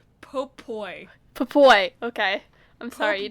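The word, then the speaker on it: Popoi: Pope Boy? Popoy. Popoy, okay. I'm sorry, you Popoy. didn't pronounce that well enough.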